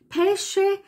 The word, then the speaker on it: pesce: SK ausgesprochen nämlich Peschke nicht verwechseln Pesche und Peschke das wird so oft verwechselt Pesche ist der Fisch und pesce sind die Pfirsiche dann brusketta das wird